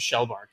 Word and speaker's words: Shellbark: it was embarrassingly late when I found out that it was Shell Bar like I've been saying it wrong the whole time and I was just